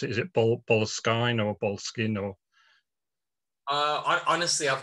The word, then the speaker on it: Boleskine: He calls it Boleskine.